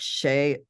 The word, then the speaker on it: Sidhe: She was told by the alien she was part, I think they call it Shay, and it's spelled Sidhe in the ancient Celtic. So her line might have gone back, and that was one of the reasons they kept taking her.